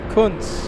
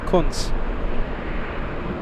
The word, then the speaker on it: Kunz: Okay, so I am a Kunz. Okay, so just wanted to say thank you for the correct pronunciation. Yes, just like Captain Kunz.